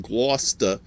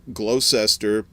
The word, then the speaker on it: Gloucester: i said my sister used to live in gloucester uh or as uh the southerners call it uh glow glow cester uh because they don't that's true you know they don't know how to pronounce that word worcestershire sauce uh all